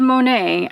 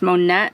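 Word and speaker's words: Monat: debbie for that but they're called monet i don't know if i'm pronouncing that right it's m-o-n-a-t i think i've heard it pronounced monette before it is hair care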